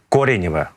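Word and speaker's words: Коренево: це в районі кореніве ось корініве ко кореніве правильно вимовляти південніше від цього напрямку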